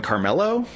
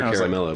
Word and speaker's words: Caramello: But I call them Carmelo. No. And people were like, that's not how you say it. They are caramello bars.